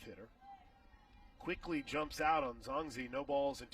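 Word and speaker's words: Xayaseng: Here's Kaylin Zongzi. Kalen Zonzi. What do you hear how this one's spelled? First pitch. Shows a bunt, takes a strike. X-A-Y-A-S-E-N-G. That's Kalen Zonzi.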